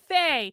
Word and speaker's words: Fae: Fae, like a fairy.